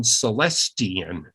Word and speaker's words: Celestian: they're Sue and Stan Celestian, which is an interesting name for people interested in rocks because it sounds and is spelled almost like celestite.